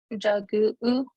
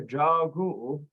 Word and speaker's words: Jagu: Jagu. Yes, correct. Jagu. Jagu. Yep. You got your long A there. Jagu.